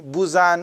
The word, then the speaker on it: Buzan: How to Use Your Head by Tony Buzan, or some pronounce it Buyan or something, B-U-Z-A-N.